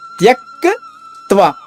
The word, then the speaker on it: త్యక్త్వా: మళ్ళా తర్వాత పదంలో తర్వాత అక్షరంలో 3 అక్షరాలు ఉన్నాయి. కా తా వా అక్కడ కా పొల్లుగా చెప్పాలి. ప్రాణాంస్ త్యక్ త్వా ఇలా చెప్తే మీకు సులభం అవుతుంది ఉచ్చారణ.